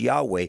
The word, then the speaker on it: Yahweh: Anyway, the way that is pronounced is Yahweh.